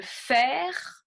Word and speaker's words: fer: Le fer, je prononce le R.